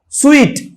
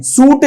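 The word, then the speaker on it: suite: अगला स्वीट, जैसे हम कोई मिठाई नहीं खाते, जो होटल के रूम्स होते हैं ना, उनको स्वीट पढ़ते हैं, सूट नहीं पढ़ते।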